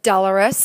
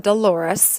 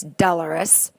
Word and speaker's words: dolorous: Then you have dolorous. That's the way to pronounce that. It's not dolorous. It's dolorous.